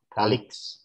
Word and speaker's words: colleagues: Kalix, bacanya Kalix.